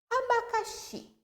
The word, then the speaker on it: abacaxi: Qual que eu pronunciei de um modo mais forte que as demais sílabas? Xi. Ok? Então, essa palavra é uma palavra oxítona, porque é a última sílaba mais forte.